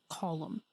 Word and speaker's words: Colum: Also, we've been pronouncing Colum Ryan's name wrong literally the entire time. It's Colum.